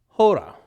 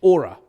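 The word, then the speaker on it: ὥρα: Hora, or ora.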